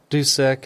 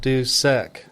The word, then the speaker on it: Dusek: So, Dusek instead of Doosek. Yeah, Dusek.